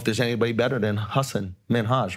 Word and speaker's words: Minhaj: Minhaj. Yeah. That sounds correct. I'm pronouncing it correct.